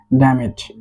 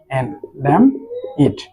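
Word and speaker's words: damn it: সো এই ধুর সাইয়ের English হচ্ছে ড্যাম ইট, DAMN, ড্যাম ইট। এখানে খেয়াল করতে হবে আমাদের এই এন কিন্তু এটি হচ্ছে একটি সাইলেন্ট লেটার, এই এন এর উচ্চারণ হবে না।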